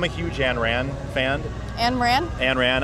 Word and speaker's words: Ayn Rand: Ayn Rand? Ayn Rand, I guess is how you really say her name.